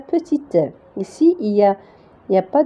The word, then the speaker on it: petit: Regardez, UN, ça se prononce un petit. Donc, on ne va pas prononcer T à la fin parce que si on ajoute E, on va dire petite.